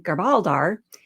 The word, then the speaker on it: Garbaldar: I have to say that being Garbaldar, he pronounced the name with a guttural growl, sure is a lot of fun.